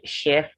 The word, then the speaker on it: chef: chef in it now for the word church in english language the ch would give but for chef the ch in french you have the sound as che so if you tr you have the sound as sh if you try to